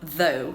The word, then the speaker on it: though: need to know about the pronunciation of though first yes it is th okay I am sorry forgive me it is th and we have to practice so my tongue is hiding behind my teeth okay and I'm blowing